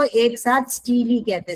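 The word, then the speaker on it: stele: इस तीनों को एक साथ हम लोग कहते हैं स्टीली स्टील कहते हैं। एस टी ई एल ई आपके बुक में इन लोगों ने दे दे रखा है। इसको प्रोनाउंस करना है स्टीली। स्टीली प्रोनाउंस करते हैं।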